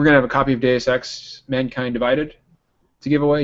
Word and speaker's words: Deus Ex: And in the meantime, you can start podcast members practicing pronouncing it as Deus. Okay, so Deus Ex.